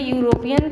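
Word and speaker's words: European: लेकिन जो उसका उच्चारण है, प्रोनंसिएशन है, वह यू ई इसमें साइलेंट हो गया है। तो यू से उसका प्रोनाउंस हो रहा है।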